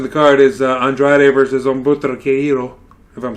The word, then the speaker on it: Humberto: I know the H is silent, and it's Humberto.